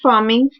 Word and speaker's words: pharming: फार्मिंग, pronounced farming, is an attack in which a hacker attempts to redirect a website's traffic to another bogus website.